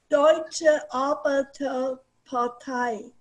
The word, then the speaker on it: Deutsche Arbeiterpartei: You want to go for it, Miss Yuda Miller, just so I can hear the German pronunciation? You're muted, Miss Yuda Miller. You're muted. Okay. Deutsche Arbeiterpartei.